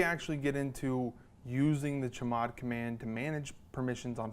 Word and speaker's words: chmod: And the command that we're going to use for that is called, well, it's pronounced chmod, but it's really just short for change mode.